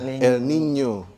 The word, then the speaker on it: El Niño: Ada masanya laninya, kalau N-nya itu sebenarnya dibacanya La Niña ya, El Niño. Karena ada N-nya itu ada tilde-nya, ada truk di atasnya. El Niño.